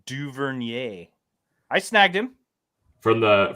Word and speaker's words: Duvernay: uh duvinier guy though you really uh you really really butchered that do you want a couple more attempts you talked about the you talk to him yay is it French no yeah Devin duvernier I snagged him from